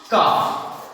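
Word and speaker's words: calf: एक और हम लेते हैं, अगर एल के बाद एफ हो तो याद रखना है यहां पर भी एल क्या करेंगे, साइलेंट कर देंगे। जिस तरह से काफ, याद रखना है काफ मींस क्या होता है बचड़ा।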